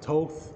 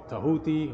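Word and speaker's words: Thoth: Jehuti, the cosmic principle of wisdom, who later becomes known as Toth or Tahuti or Toth, depending which pronunciation you want to subscribe to.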